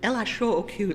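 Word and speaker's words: L.H.O.O.Q.: And that means you have to pronounce these letters the way a French person would. LHOOQ.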